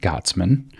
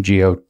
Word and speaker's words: Gottesman: Education that's written by a guy named Isaac Gottesman. I think that's how you pronounce his last name, G-O-T-T-E-S-M-A-N, Gottesman.